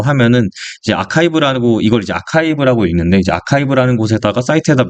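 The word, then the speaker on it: arXiv: 이제 투걸 어디다 하냐라고 하면은 이제 아카이브라고 이걸 이제 아카이브라고 읽는데 이제 아카이브라는 곳에다가 사이트에다 미리 올려 가지고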